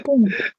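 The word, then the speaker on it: Punkt: Cara bacanya ini punk. Artinya pung. Pung ya, bukan blung blung blung, bukan plung plung plung, bukan plung plung plung. Pokoknya kalian bacanya pung.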